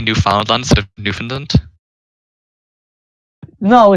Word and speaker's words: Newfoundland: is not only does this like sound like you're just saying new finland it sounds like like if you look at the way it's spelled and then how it's pronounced it sounds like a finnish word as well it's literally it's not even finished it it just says new found land because it was the